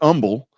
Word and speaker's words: Humble: uh yeah you get Umble Umble yeah how do you get Umble out of humble which you know whatever